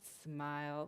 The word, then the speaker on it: SMIL: smile you can remember it's pronounced smile like the face will smile it's used as animate